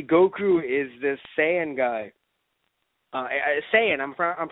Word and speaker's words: Saiyan: Saiyan, I'm pronouncing it right? English, yeah, Saiyan.